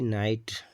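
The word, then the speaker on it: night: एन आई जी एच टी नाइट तो जी एच जो इसमें है साइलेंट है यानी वर्ड में लिखने तो आता है लेकिन पढ़ने नहीं आता है क्योंकि साइलेंट है ठीक तो ए से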